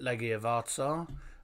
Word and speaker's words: Legia Warsaw: Legia Warsaw, that's how you pronounce it, Legia Warsaw.